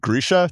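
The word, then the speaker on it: Grischa: I think, and then is it Grisha?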